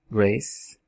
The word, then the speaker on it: grace: Não tem esse E não existe, ele é mudo também. A palavra grace, grace, que é graça.